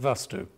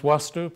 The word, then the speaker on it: Vastu: of you call it vastu but it's actually pronounced wasu because Sanskrit doesn't have a v in it but it isn't just